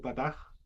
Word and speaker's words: pataj: En la primera pataj, ¿cómo cómo se lee? Patá o pataj. Pataj sería pataj.